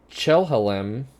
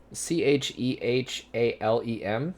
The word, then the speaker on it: Chehalem: A cross between a Chelhalem A chelhala cal. Spell it. Spell it. Oh, CHEHALEM.